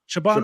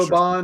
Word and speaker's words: Siobhan: Siobhan. Siobhan Roy Siobhan. Who? from Succession. Oh, yeah. I can't. She's British too. I think It's or not Scottish. or Siobhan.